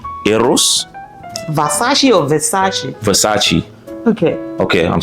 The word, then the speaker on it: Versace: Oh, no, it's Versace, not Versace. Not Va, it's Ve. That's what I said, Versace?